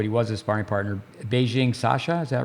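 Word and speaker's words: Sascha Bajin: Beijing Sasha, is that right? Yeah, Sasha Beijing, as far as I know.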